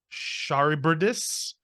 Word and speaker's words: Charybdis: No, it's Charbydis. Charybdis was driven mad when his wife and partner in crime, Scylla, was killed in an attempt to Charybdis.